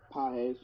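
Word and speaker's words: Pagés: I I think does he pronounce his name Pahes or Pages? Pahes.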